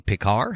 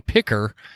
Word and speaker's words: Pickar: remember who it was it sounded like they almost said like picker and I think they just mispronounced it and I got it